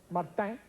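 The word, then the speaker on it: Saint-Martin: martinque to San Martin that's the way it's pronounced Martin on France 40 sheet plane 39 people smoked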